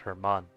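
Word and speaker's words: Germán: a G, like because it's pronounced like Hermon, but it's spelled with a G like German.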